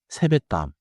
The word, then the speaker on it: 세뱃돈: One pronunciation note. in 세뱃돈. The 받침 시오 affects the next sound. So natural speech sounds like 세뱃땀.